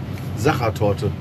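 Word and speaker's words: Sachertorte: Tell me how to pronounce this again. Zachertorte.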